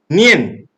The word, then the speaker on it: 念: But by looking at this word, the Chinese characters of sati or mindfulness, this word is pronounced nian in Chinese.